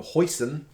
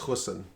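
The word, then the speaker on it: Goosen: in a big run i swear they pronounced his name hoison i don't know if that's great i don't speak afrikaans i'm assuming it's an afrikaan surname but i think it's hussein i don't think it's hoisin like the source anyway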